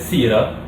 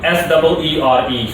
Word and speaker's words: Seere: His name is pronounced, or spelled better said, S-E-E-R-E, so S-E-E-R-E, and it's pronounced Seere or Seer, whichever way you want to pronounce it, but I'm going to stick with Seere.